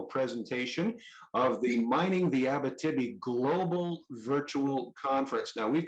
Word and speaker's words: Abitibi: So there is an enormous amount of interest in the Abitibi, sorry, let me pronounce that correctly, the Abitibi Greenstone Belt, which has been host, as we